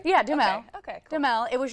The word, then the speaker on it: Duhamel: Yeah, Duhamel. Okay, cool. Duhamel. It was just so funny that he even has his own commercial. He's like, this is how we pronounce it. Definitely not Duhamel, because that's how it's spelled too.